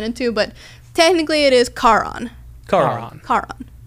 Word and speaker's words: Charon: But technically, it is Charon. Charon. Car goes on, car goes off.